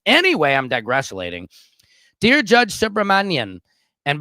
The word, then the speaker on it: Subramanian: Dear Judge Subramanian, and by the way I know I'm pronouncing that right is because one of my loyal Patriot Indian followers taught me the correct way to say it because I was screwing it up.